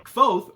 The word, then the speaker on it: Kvothe: main character's name is Kvothe. It's pronounced kind of like Quoth, like Quoth the Raven, but with a V kind of wedged in there.